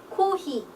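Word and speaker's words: コーヒー: 그래서 커피를 일본어로는 코히 이렇게 표현을 합니다. 물론 비슷한 표현도 외래어를 똑같이 읽는 표현도 많고 하는데 일본의 표기 특성상 코히라고 말을 합니다.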